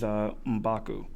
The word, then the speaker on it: M'Baku: Winston Duke, who plays M'Baku. And I think I pronounced that right.